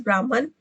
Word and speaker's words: Brahman: In this video, so like I have pronounced the Brahman as Brahman. It is wrong pronunciation. The actual pronunciation is Brahman.